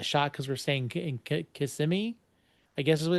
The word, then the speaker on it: Kissimmee: we're within like a shot because we're staying in Kissimmee, I guess is what it's called. I thought it was Kissimmee? Kissimmee, but it's from how Kissimmee?